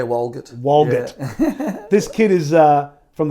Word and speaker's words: Walgett: If we go back in time, this kid from Walgett is now, I'm pronouncing that right, aren't I? Yeah, Walgett.